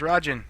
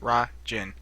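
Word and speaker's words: Ra Jin: got a new God his name's Rajan that's how you pronounce it rah gin got it Rajan I'm saying it right that's how they said it in a patch notes I'm saying it right okay no let's go ahead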